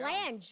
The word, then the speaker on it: Lange: Oh, Lange. There It's we go. Lange. We've been calling him Lang for 3 years.